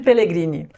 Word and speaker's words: Pellegrini: Peter Pellegrini. Olha só. Peter Pegrini até fácil de pronunciar. Pellegrini. Então, então é um, então italiano como eu.